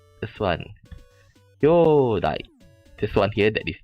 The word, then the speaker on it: 兄弟: What the problem is that the kyodai onkyodai.